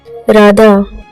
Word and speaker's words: राधा: Sound science राधा इस इस शब्द की ध्वनि को देखते हैं। और यह एक रोलिंग कंसोनेंट है। इसका उच्चारण जब होता है तो जीभ की स्पेसिफिक वाइब्रेशन होती है। यह संस्कृत के सबसे ओपन वर्ल्ड्स में से एक है। इसके उच्चारण में चेस्ट और थ्रोट फुल्ली ओपन होते हैं। द यह एक एस्पिरेटेड कोसोनेंट है जिसमें ब्रेथ का रिलीज होता है।